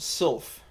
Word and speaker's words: sylph: Sliff isn't pronounced Sliff, it's pronounced Sylph.